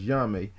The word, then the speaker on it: Onyame: And the O and the N, are basically silent. So you would just pronounce the word as Yame, as they have here.